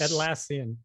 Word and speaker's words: Atlassian: jira incident because I don't know how to say atlassian or at laan or at I don't like saying it said it right at lassan so I'm just saying